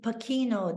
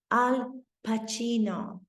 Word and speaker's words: Al Pacino: for him that somebody finally pronounced his name correctly they weren't saying pakino they weren't saying pasino he strasbord knew to pronounce his name Al Pacino and he felt as